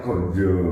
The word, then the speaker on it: ganja: sampai pasi metuh kemudian tulisannya ganja tapi membacanya gonjo gonjo siap Wah di luar